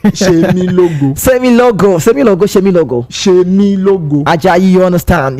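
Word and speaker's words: Oluwasemilogo: Oluwasemi Logo. Oluwasemi Logo. The Yoruba the S is Oshe say she. Shemi Logo.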